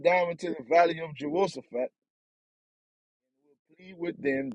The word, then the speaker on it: Jehoshaphat: That's how I pronounce it, Jehoshaphat.